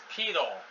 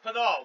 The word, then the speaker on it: Pidal: Let's read about Ramón Menéndez Pidal. Ramón Menéndez Pidal, Spanish pronunciation.